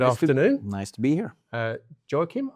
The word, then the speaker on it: Joacim: Joacim, have I pronounced that correctly? That's correct. Yes.